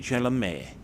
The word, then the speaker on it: Chalamet: With a name like Chalamet, he should have a French accent. It's Timothy Chalamet. That is how you should pronounce it.